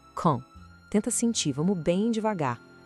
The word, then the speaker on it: quand: A gente não pronuncia o D no final de jeito nenhum. O som sai meio que pelo nariz, ó. Quand. Tenta sentir, vamos bem devagar. Quand.